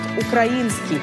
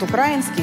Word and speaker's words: украинский: в современном литературном языке правильным только один вариант украинский вариант украинские считается устаревшим кстати в самом украинском языке слово украинские произносится только с ударением на звук которые можно передать как ей украинский так что у дарению украинские просто неоткуда взяться разве что из стихов пушкина